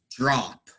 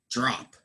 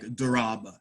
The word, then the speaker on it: drop: So, drop. It really sounds like J-R-O-P, drop, right?